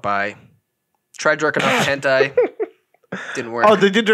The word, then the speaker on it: hentai: Hentai. Yeah, I used to say hente. Hente. Okay, and those were wrong. It's hentai.